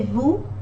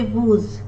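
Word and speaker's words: vous: the consonants final consonants are usually not pronounced in french we say vu we don't say vuz but when there is a vowel falling in the next word after this vu we have to pronounce this as as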